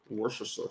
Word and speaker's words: Worcestershire: sure you said it right the first time worcestershire sauce we're at 81 likes y'all keep on